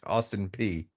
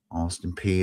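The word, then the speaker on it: Austin Peay: So Wikipedia says it's pronounced P, Austin P. Okay. Austin P.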